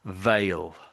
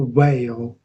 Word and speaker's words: veil: So veil, veil, Oh, whale, whale, veil.